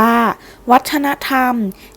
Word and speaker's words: วัฒนธรรม: คน สัตว์ เป็น ต้น วัฒนธรรม อ่าน ว่า วัฒนธรรม คือ สิ่ง ต่าง ๆ